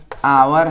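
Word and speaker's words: hour: लेकिन हम एक्चुअली में इसका उच्चारण क्या है? अ है। आवर है।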